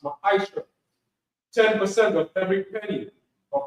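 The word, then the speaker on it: מעשר: Means 10 in the Hebrew and is pronounced ma'aisha.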